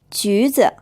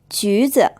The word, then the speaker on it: 橘子: It's pronounced with a third tone, then a first tone. 橘子 Now, if you see a U sound after